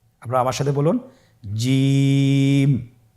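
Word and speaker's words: ج: যাবে এর মাখরাজ হলো জিহ্বার মধ্যখান তার বরাবর উপরের তালুর সঙ্গে লাগিয়ে উচ্চারিত হয় আপনারা পিকচারে ছবিতে দেখতে পাচ্ছেন যে জিহ্বার মধ্যখান তার বরাবর উপরে তালের সঙ্গে লাগিয়ে উচ্চারণ করতে হয়।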